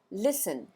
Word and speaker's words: listen: इसकी स्पेलिंग में T silent होता है, यानी टी का उच्चारण नहीं करते हैं, और इसका प्रोनाउंसिएशन होता है लिसन, लिसन।